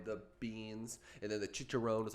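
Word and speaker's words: chicharrón: banging bro i got his specialty is the chicharron which is like um it's like a pork it's a pork how's that pronounced chicharon so basically it's the type of joint where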